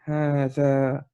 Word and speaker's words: هذا: If you look at the spelling, it is هذا. Here's the alif, there's no alif here, هذا, but actually there is a hidden alif here. Okay, so the pronunciation has to be هذا, right?